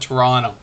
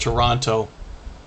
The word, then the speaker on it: Toronto: in toronto don't pronounce it that way we pronounce it toronto it's similar to like what you'd expect from